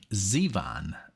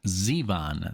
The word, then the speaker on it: Zevon: Google or or Google and uh so it's Zevon it's Warren Zevon that's the correct pronunciation for everyone if this is your first time listening to Born Zevon that's the way you say it oh that's